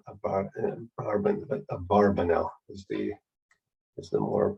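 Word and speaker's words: Abarbanel: by the way not about an urban but a barbanel is the is the more precise uh pronunciation anyway so uh he was a fascinating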